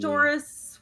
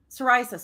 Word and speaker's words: psoriasis: must be- Pistoris, where you get the scaly skin in your scalp or whatever. I forget if that's how to pronounce it. Like psoriasis.